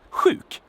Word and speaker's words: sjuk: And then we have sjuk, which can be hard to pronounce for some.